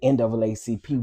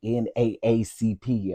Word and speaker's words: NAACP: Yeah, the lady that I talked to, because I said something about NAACP, and she was like, "Yeah, well, we don't say NAACP, we say NAACP," and I was like, "Oh, okay.